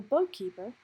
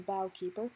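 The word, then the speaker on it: Bough Keeper: The boatkeeper, aka Dainsleif, or the bowkeeper, however you prefer to pronounce it, he was the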